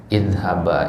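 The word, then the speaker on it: اذهبا: Ya, idhaba ini bacanya i. Ya, kenapa? Karena akar katanya adalah zahaba. Ini akar katanya. Ini di awal ayat ya, di surat Thaha. Ya, idhaba ila fir'auna innahu tagha. Ini bacanya i. Nah, ya. Karena apa? Karena asal katanya zahaba.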